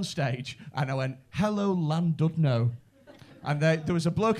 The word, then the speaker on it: Llandudno: I went on stage and I went, hello, Llandudno. And there was a bloke at the front. Actually, it's pronounced Llandudno.